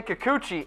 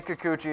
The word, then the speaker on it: Kikuchi: the board the Yankees are targeting you say Kikuchi and yes that is how you pronounce it you say Kikuchi I say Kikuchi as well left-handed Japanese pitching prospect is available